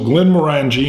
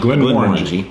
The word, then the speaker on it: Glenmorangie: at the end of this, but uh so Glenn Morani and I always say, did I say the name right? I used to say it wrong. Morangji. Moreni. Glenn Moreni.